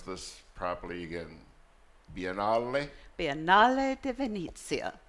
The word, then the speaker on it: Biennale di Venezia: Before we go, let me try and pronounce this properly again. Biennale di Venezia. Biennale di Venezia.